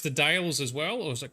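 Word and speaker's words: The Dalles: if that's where they stole the name yes dales yeah cool cool cool there's a there's a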